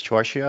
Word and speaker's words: Torchia: and I think your surname is torche is that how I'm pronouncing it or that is how I'm pronouncing